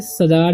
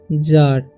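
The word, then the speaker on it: czar: इसे पढ़ेंगे जार, इसे सजार या कजार नहीं पढ़ना, इसे पढ़ना है जार।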